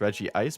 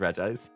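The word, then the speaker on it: Regice: night uh funny enough if you listen to re ice in one of the movies he says Reggie ice but then the characters pronounce it as r i so then both are fine as far as I'm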